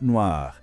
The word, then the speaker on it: noire: muda, vira une robe noire. A gente adiciona um E no final e a pronúncia também muda um pouquinho, fica mais aberta. Noir.